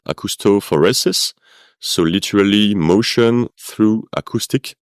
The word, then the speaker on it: acoustophoresis: Yes, so you pronounced it right, acoustophoresis.